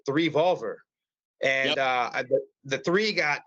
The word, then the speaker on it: 3VOLVR: and then I actually I pronounced it three Volver and uh the three